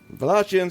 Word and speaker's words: Wallachians: It was constructed around the beginning of the 13th century by the Wallachians. Did I say it right, Josh? Yeah. Wallachians, yay!